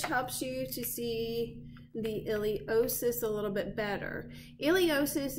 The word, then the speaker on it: iliopsoas: So the iliosus does have a silent P in it, I-L-I-O-P-S-O-A-S. From the iliosus, you next can find your femoral nerve.